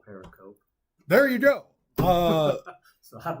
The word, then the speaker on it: pericope: mom's like, "You dummy, that's not how you pronounce it." Apparently. Okay. Pericope. And I did. I went on YouTube and I typed in, "How do you pronounce pericope?"